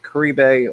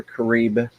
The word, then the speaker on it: Caribe: are piranhas those are core eBay or Caribe piranhas however you prefer to pronounce it ca r ib e